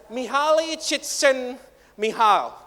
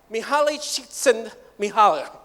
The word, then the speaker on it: Mihaly Csikszentmihalyi: Try to pronounce that name. Ini bukan nama yang dibuat-buat. Mihaly Csikszentmihalyi. Mihaly Csikszentmihalyi.